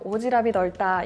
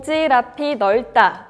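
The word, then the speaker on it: 오지랖 넓다: 한번만 읽어 보세요 그쵸 대부분 이렇게 발음 하실 거에요 오지랖 인 없다 이렇게 하지만 오질 학교에 보시면요 pu 받침 이에요 그래서 정확한 발음은 5 지라 핀 없다 라고 해 주셔야 맞습니다 자 이렇게 오지랖 넓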